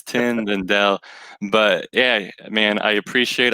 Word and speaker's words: Tindell: man it's so good a lot of people get my last name Tyndall twin well I'm like there's not even letters that you're pronouncing in there it's tendon Dell but yeah man I